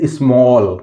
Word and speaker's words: small: इसी तरह लिखा हुआ है दोस्तों SMALL, इसको पढ़ेंगे स्मॉल। क्या पढ़ेंगे, स्मॉल।